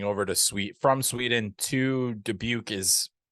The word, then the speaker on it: Dubuque: season for the Dubuque, which I hope I pronounced properly, but I have no Dubuque. Dubuque.